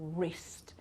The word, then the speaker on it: wrist: wrote wrap wrong or wrist everything starts with an r so the sound ra but in fact we don't pronounce the w here right and also the